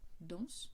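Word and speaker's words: dansent: De la même façon, quand on a le il, elle danse au pluriel, ENT, il n'y a pas d'accent sur les E, par conséquent, le NT ne sont pas prononcés.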